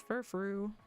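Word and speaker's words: Furfrou: Fancy French dog is Furfru. This is meant to be like frou-frou, but I didn't know.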